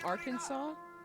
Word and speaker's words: Arkansas: acceptable pronunciation is quote in three syllables with the final s silent the a in each syllable with the Italian sound and the accent on